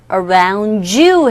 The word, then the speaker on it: around: 그런데 n과 d가 같이 있는 경우에도 d음이 탈락이 되고 n으로만 소리가 나서 around의 d 사운드 탈락되고 around you 자 around you 이렇게도 발음되고 또는 around you 라고도 발음이 되는데 거의 이런 상황에서는 n과 d, u 이렇게 만나서 ju 라는 소리로 변하게 되죠. 그래서 around you 이렇게 발음이 된다는 거 익혀두시면 되겠습니다.